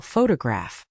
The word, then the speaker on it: photograph: For example, the word photograph is stressed on the first syllable, photograph, but photography is stressed on the second syllable, photography, and photographic is stressed on the third syllable, photographic.